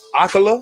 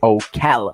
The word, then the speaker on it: Ocala: you started off in in aquila am i saying it right ocala ocala started off in ocala